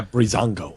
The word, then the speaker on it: Breezango: There's a lot more tag, there's the Ascension, there's the Vaudevillains, there's Breezango, is that how you pronounce that? Yeah, Breezango.